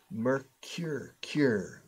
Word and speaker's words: Mercury: Notice the pronunciation. Mercury.